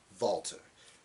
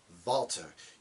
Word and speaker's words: Walter: Walter. You say it with that W sound. Or you say it with that V sound, not that W sound, not Walter. You say Walter.